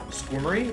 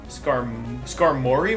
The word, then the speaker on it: Skarmory: For me, the early game is the hardest part, apart from a couple, oh, I forgot to mispronounce. Squirmery? Wait, Skarmory?